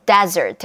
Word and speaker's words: desert: 사막을 뜻하는 desert 같은 경우는 강세가 앞에 음절이 있어요.